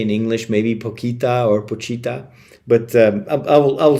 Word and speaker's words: Pochita: That's how they pronounce it in the Japanese dub. So Pacha. Um you could probably I don't know what they say in English. Maybe Pita or Pochita, but um I will